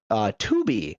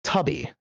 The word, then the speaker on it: Tubi: free movie streaming service, which I desperately want to call Tubby. Every single time I see it pop up on my menu options, by the way it is spelled. The Teletubby connection is misleading.